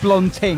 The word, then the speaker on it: blonding: a fluster and uh I called them blonding blond it's blonding this is blonding I know but I over complicated it I I added an extra syllable in that is not